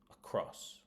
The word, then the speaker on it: across: So, the first one there is across across. So that is on the second syllable across.